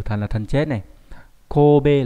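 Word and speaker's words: 神戸: Kobe là chữ thần với chữ hộ đọc đặc biệt là đọc là ko có nghĩa là thành phố Kobe.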